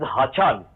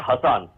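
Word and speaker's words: Hasan: Mr Haan mmud particularly we must remember that the pronunciation of the name of the foreign honorable foreign minister of our neighboring count is Haan not Hassan um so the when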